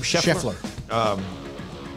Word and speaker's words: Scheffler: Scott, how do you pronounce his last name? Scheffler.